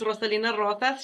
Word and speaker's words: Roselina Rosas: good morning beautiful people my name is Miss roselina Rosas she saying my name with the rolling of the R so I am going